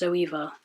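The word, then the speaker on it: Zoeva: I love zoea brushes I think that's how it's pronounced zoea yeah but z o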